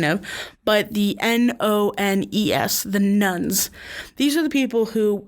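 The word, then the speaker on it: nones: nuns we're thinking of but the n-o-n-e-s the nuns these are the people who in asked in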